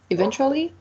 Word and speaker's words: eventually: The fourth one, it's eventually. It has 4 syllables, and the stressed is the second one.